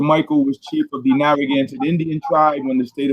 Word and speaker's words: Narragansett: is actually properly pronounced Narragansett. We didn't have R's in the language, and we ended up with two of them in our official name. So I use Narragansett because most people know it, but properly it's Narragansett.